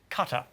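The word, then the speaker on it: Qatar: That is pronounced cutter.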